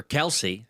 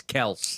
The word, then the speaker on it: Kelce: class was uh Travis Kelce. Or Kelsey, however you choose to pronounce it. It's Kelce. It's Kelce. It's Kelce now that he's If it's Kelce, I hate him even more.